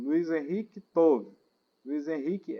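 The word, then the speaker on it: טוב: Essa palavra aqui é tove. Tove. Se alguém tiver a gramática e a parte física, é só escrever tove, que é a pronúncia.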